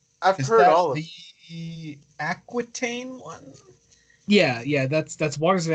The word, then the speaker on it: Aquitaine: I've Is heard that all of the Aquitaine one?